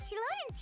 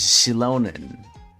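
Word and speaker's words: Xilonen: Oh, and Chilan's here, too. Shalon. Oh, that's how you say her name. It's Shilonan.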